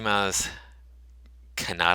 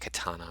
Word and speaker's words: Maz Kanata: soon as we see Maz Kanata I think is how you say her name I've been saying it katana I am I have